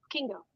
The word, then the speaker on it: Kingo: from the start okay how do you say your last name Kingo Kingo okay we'll be right back